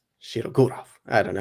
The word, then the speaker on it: Shirogorov: I think I always know it as Shirogorov. Oh, Put the accent in a different place. Shirogorov.